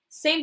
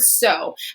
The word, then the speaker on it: so: here that sounds okay but it's the o sound and again when i see an o i want to say ah but it's not sa that doesn't make sense it's tricky word so and so just like in no i'm gonna see that oh when i'm gonna think to myself it says its name it says the o